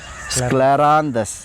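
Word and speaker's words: Scleranthus: அப்படின்னா ஸ்கிளரான்ஸ் அப்படின்னு சொல்லக்கூடிய மலர் மருந்து பேர் கொஞ்சம் உச்சரிக்க சிரமமாதான் இருக்கும் ஸ்கிளராந்தஸ் சரிங்களா தமிழ்லயும் எழுதி இருக்கிறேன் சோ இந்த மலர் மருந்து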